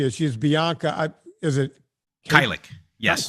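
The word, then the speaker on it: Kajlich: Is it Kylik? Yes, Kylik. I can never pronounce.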